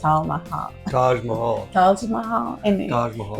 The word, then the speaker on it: Taj Mahal: building a t Mahal Taj Mahal Taj Mahal Taj Mah this isn't in English because in Spanish it's tah so the the roof